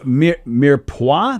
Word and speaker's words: mirepoix: all right let's see oh mir pois that's how you pronounce it the people sounds like mirepoix claw mere paw that's the word of